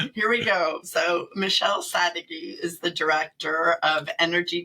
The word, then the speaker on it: Sadeghy: Sadeghy. It's okay. It's a tough one. I had it down right. And then he was like, oh, that's how you pronounce it. So here we go. So Michelle Sadeghy is the director of energy tax credits and